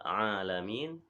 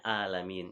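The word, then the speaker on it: العالمين: Ya, kemudian pada kata alamin ya dibacanya alamin, yang betul adalah huruf ain. Alhamdulillahi rabbil alamin ya.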